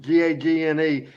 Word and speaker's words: Gagne: The opponents for Barnes and Dundee in that debut match was Jim Gagne, spelled like Greg and Vern, Gagne, and their tag team partner was a babyface Dennis Condrey, obviously.